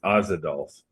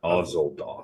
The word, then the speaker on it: Ozadolf: Nope, it's Ozadolf, not Ozoldolf.